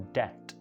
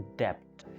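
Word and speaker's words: debt: कर्जा को इंग्लिश में बोला जाता है डेट, बी साइलेंट है, डेट, लेकिन लोग इसको बोलते हैं डेप्ट।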